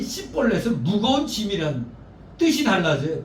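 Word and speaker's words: 쉽볼렛: 그래서 시볼렛을 제대로 발음하지 못하고 씨볼렛 그러니까 너희 시키 에브라임이네. 그 자리에서 그 발음을 가지고 잡아 죽인 겁니다. 에브라임 사람들이 급하게 도망하여 요단 나루턱을 걸려라 할 때 너 일로 와봐. 너 씨볼렛 해봐.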